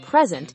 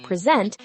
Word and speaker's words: present: When we stress the first syllable present, it's a noun meaning a gift. When we stress the second syllable present, it's a verb meaning to show or introduce.